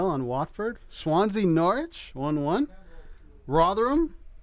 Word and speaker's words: Rotherham: Rotherham, how do I say it properly?